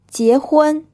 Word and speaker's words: 结婚: 结婚 If you remember, this IE sound is E plus E, and this word means to get married. 结婚水饺 This word is pronounced with two third tones.